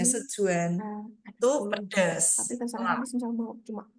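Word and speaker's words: Sichuan: pernah makan masakan sejuan bacanya bukan si Cuan ya tulisnya si s i CH h u a nanya sejuan itu pedas tapi mau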